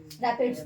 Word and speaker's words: raphides: क्या बोलते हैं इसको हम, क्या बोलते हैं इसको, हाँ रैपिड्स बोलते हैं, स्पेलिंग ठीक है, RAPHIDES, ठीक है।